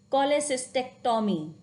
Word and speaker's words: cholecystectomy: Like CH sounds like K, so we used to pronounce the word CHYME means chyme. It's not chime, it is chyme. Cholecystectomy, chronic.